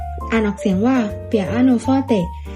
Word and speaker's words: เปียโนฟอเต: ใน เครื่อง ตี สาย คำ ว่า เปียโน มา จาก คำ ว่า เปียโนฟอเต อ่าน ออก เสียง ว่า เปียโนฟอเต อิตาเลียน จะ หมาย